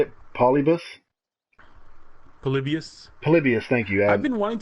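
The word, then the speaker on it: Polybius: Palibius.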